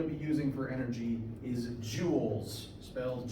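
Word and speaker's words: joule: using for energy is Jewels spells j u l s named after a French physicist pronounced like the gemstone but French depending on what chemistry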